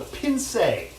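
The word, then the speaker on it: pincé: pince API NCE and it's got a little tail over the either the accent aigu if you're familiar right and it gives it that a sound at the end so pin say browning tomato paste to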